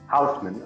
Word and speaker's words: Housman: I don't know how you pronounce it, Housman, Housman. Yeah, Housman, okay.